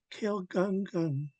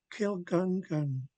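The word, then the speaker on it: Kil Gun Gun: Get Watuan U Kill Gun Gun. Now, after we pronounce kill, the gun gun needs to be nice and tight. We can't drag it out. So kill gun gun, kill gun gun, nice and tight.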